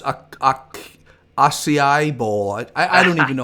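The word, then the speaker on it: açaí: We had to look it up, to be honest with you, but the proper pronunciation is acai. Acai, okay. Acai, it's a Brazilian berry.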